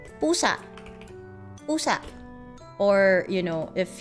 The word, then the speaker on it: pusa: You would say pusa.